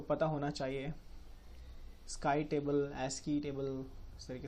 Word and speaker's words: ASCII: Sky table, ASCII table, इस तरीके से इसको प्रोनाउंसिएट करता है।